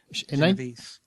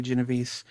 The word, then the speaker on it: Genovese: Acts of Violence is a novel being adapted into a film based on the murder of Kitty Genovese. No, Genovese. I think the S is silent, but whatever.